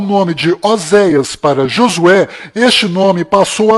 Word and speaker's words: Oséias: Este nome que você está vendo é o nome de Oséias, que do qual Moisés mudou para Josué, mas a pronúncia correta de Oséias é Rochéa.